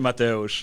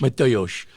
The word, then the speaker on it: Mateusz: Mateusz. Mateusz.